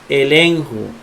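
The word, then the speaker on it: ἐλέγχω: Y dice la ley que cuando la gamma va con una ji se pronuncia N. Entonces esta gamma se pronuncia como N. La ji como J y la omega como O. Ahí dice elenjo, que es amonestar.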